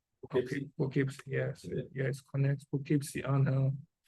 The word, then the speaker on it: Poughkeepsie: Is that the proper pronunciation? Poughkeepsie. Poughkeepsie. Poughkeepsie, yes, yes, connects Poughkeepsie and the town of Lloyd.